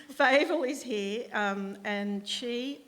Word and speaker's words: Favel: okay uh so favel um is here with us did i pronounce that question fable i've asked it seven times and i still got it wrong fable is here um and she i feel as